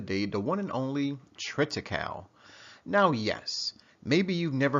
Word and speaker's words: triticale: of this before or maybe you pronounce it by a different name right I mean I've heard Tripta cow as I just enunciated it but then other people may call it try cow some people may call it triptych alley